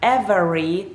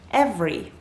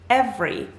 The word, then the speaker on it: every: it a little faster every every so that letter in the middle the letter e in the middle actually does not get pronounced in this word instead of saying every